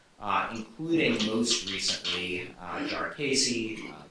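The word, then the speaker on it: Jarkesy: including most recently uh jar casy jari there are a million ways to pronounce it I'm not entirely sure at this point because I've heard so many so regularly uh but we'll go with uh jar casy I believe it's that pronounced it today and I'm going toet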